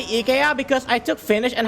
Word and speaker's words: IKEA: I say IKEA because Asian Dub Foundation song. Burning Fans? Oh. No, it's IKEA. That's the official pronunciation.